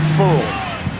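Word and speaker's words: Ferrell: Just telling people this week, apparently, nationally anyway, like his last name pronounced Furl.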